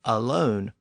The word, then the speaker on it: alone: Again, the modern pronunciation of alone preserves the pronunciation of one as own.